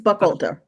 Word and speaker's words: Buchalter: Is that how you pronounce? Buchalter. Yeah, all right. It's Buchalter.